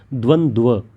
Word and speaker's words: द्वंद्व: ठीक, पहले वाले में भी आधा व दूसरे वाले में भी आधा व, द्वंद्व, इसको इस तरह से इसका उच्चारण करेंगे।